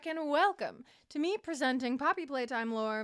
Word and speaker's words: Poppy Playtime: knowledge first what is Poppy playtime and did you know it's not Poppy's playtime I was saying it wrong for years years poppy play time